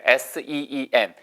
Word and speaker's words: seen: S-E-E-N. Have you seen? Have you seen? 길게 발음하셔야 돼요. 안 그러면 죄란 뜻의 S-I-N. 우리가 종교적인 죄를 seen이라고 얘기하고 지금처럼 보다는 보았었다라고 할 때는 seen이라고 얘기하셔야 돼요.